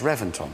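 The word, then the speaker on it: Reventón: time no I know it's spelt with a V but it's pronounced with a B why I don't know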